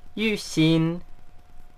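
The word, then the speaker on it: YuXin: la manera correcta de pronunciarlo en chino es y sin y sin primero baja y después a mantiene y sin y esta es la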